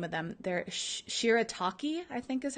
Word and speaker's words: shirataki: I don't botch the name of them they're shirataki I think is how you pronounce it they're made from white yam which